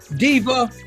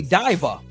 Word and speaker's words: diva: about somebody yeah yeah Diva they say divver they don't say Diva